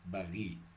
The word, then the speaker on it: Paris: By the way, in a French accent they pronounce it as Paris.